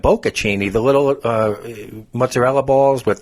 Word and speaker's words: bocconcini: Now, I grew up in Italian, and I said, Greg, are you sure it's bocchini? Because you're thinking of bocconcini, the little mozzarella balls with the prosciutto is the Italian ham, and the tomato.